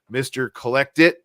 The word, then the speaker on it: mrcollectit: Check out Jake's stuff, mrcollectit.